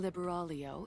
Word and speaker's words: Liber: I'm talking about nister libero in indivia libero then that's how you pronounce her name Liber Alo well it's nice to know how to pronounce it now CU I was